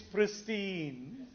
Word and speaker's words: pristine: think I don't know no its pristine like Christine the name Christine they're all the first